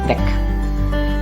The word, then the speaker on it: weg: I don't know for what reason this word, Weg, with the small V, which means away, gone, is pronounced kurz.